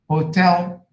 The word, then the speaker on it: hotel: So in the word China, first syllable, Japan, second syllable, hotel, second syllable, interest, first syllable, education, education, second syllable, loveliness, first syllable, stupidity, stupid, second syllable, fantastic, second syllable, manly, first syllable.